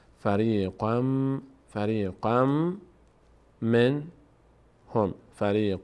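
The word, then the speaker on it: فريقًا منهم: تبدیل به میم می‌کنیم به جای این تنوین مم تلفظ می‌کنیم میگیم فری قم فری قم من هم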